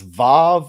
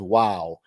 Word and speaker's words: Vav: It depends on if you pronounce that Hebrew letter as Vav or as Wow. Same letter.